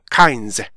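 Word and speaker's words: kinds: 어 뒤에가 짧은 언어요 그래서 영어를 읽을 때 카인 하면서 뒤에가 짧아진다 말이에요 그래서 우리나라 사람들은 단어 뒤에 오는 S 발음이나 발음을 잘 하지 못해요 왜 그러냐면 그까지 리듬이 가지를 못하기 때문에 그래요 그래서 이거를 카인즈 카즈 이런 식으로 그래서 카인즈 카즈 이렇게 해주셔야 돼요 그다음에 나 단어는 FR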